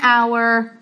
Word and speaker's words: hour: Então por causa disso, a gente vai contrário à regra e a gente vai colocar o an, an hour, anor, porque nosso h é mudo.